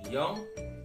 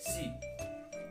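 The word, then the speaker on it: 四: Kemudian angka 4, awas, angka 4 cara pengucapan dalam bahasa Jepang itu ada dua. Bisa dibaca atau diucapkan yong atau dibaca shi.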